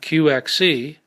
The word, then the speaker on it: QXC: precise ways tetrad and qxc pronounced quickie are vehicles for qcmp